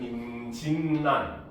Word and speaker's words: 임진란: 원요 요렇게 비음화 일어나죠 그 외에도 임진 혜란을 줄여서 우리는 임진란이라고 쓰지만 읽을 때는 임진란 자 이런 듯이 앞부분